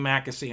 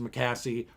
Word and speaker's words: McAssey: friend lynn heiligman we between my name makkasee and her name heiligman our series my australian siri man uh pronounced mccassie pronounces her heligman so it's a joke